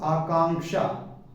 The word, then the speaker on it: आकांक्षा: हुआ है प्लस अर्थात इसके उच्चारण में आधिक का का उच्चारण होना चाहिए जैसे लक्ष्मण लक अधि